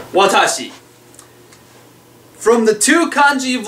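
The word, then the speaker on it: 私: for me and or I um um it's pronounced Watashi there are other pronunciations but so far we've only learned Watashi here we go stroke order this is going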